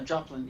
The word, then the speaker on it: Joplin: jop something like that yeah Joplin you pronounced it right as in Joplin Missouri yeah no Fergus sorry